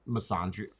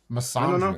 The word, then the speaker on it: misandry: That's misandry. Am I saying it right? I feel like I feel like that's a disease. Misandria.